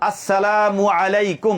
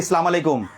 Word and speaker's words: আসসালামু আলাইকুম: আসসালামু আলাইকুম। বল সবাই। আসসালামু আলাইকুম। আসসালামু আলাইকুম শুরুতে আ শেষে মিম আসসালামু আলাইকুম আসসালামু আলাইকুম নাকি সালামু আলাইকুম শুদ্ধ সুন্দর করে দিবো আসসালামু আলাইকুম আসসালামু আলাইকুম